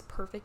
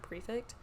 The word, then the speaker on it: prefect: I remember in one of the books there's just, like, it's just one minimal spelling error, and it says perfect instead of prefect.